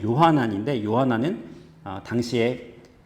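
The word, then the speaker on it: יוחנן: 세례 요한도 아니고 예수님의 제자 요한도 아닙니다네이 히브리어로 발음하면 요하난 있데 요한나는 당시에 어 흔한 이름이었습니다 이스라엘 사람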